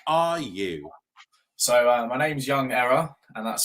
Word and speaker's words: YvngError: So my name's YvngError, and that's spelled with a V.